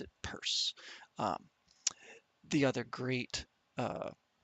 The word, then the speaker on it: Peirce: I believe his name is spelled as if it were pronounced Pierce, but we actually pronounce it Peirce.